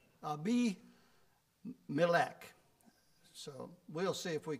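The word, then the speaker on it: Abimelech: have used this uh I've pronounced this word AMC for a long time and then I looked it up today how it's supposed to be pronounced so I will try and see if I can change my thinking to how it's supposed to be pronounced and it's supposed to be pronounced ABC ab be meac so we'll see if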